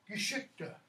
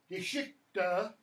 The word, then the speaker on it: Geschichte: Geschichte, okay? And notice what happens when you have a third syllable, like with Geschichte. That third syllable often is unstressed completely.